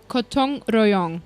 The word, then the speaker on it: gotong royong: Gotong royong. Yes. Is that how it's pronounced?